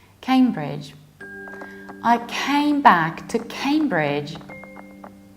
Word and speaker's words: Cambridge: and this is not kimbridge but Cambridge came Cambridge so you pronounce it like came like I came back Cambridge I came back to